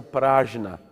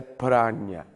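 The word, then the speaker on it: prajñā: Às vezes se pronuncia prajna, mas a pronúncia sânscrita correta é prajna.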